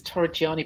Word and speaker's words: Torreggiani: welcome and tori gianni have i pronounced your name right well it's torah gianni but frankly i answered